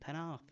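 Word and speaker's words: Pennard: pen and Pa call the other four good pronunciation penar I've been listening I've been listening you do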